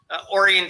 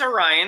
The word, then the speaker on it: Orion: some stupid pronunciations too it's like orian Township no it's Orion it's not orian well there's a hail